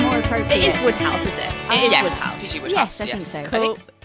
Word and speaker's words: Wodehouse: It is Wodehouse, is it?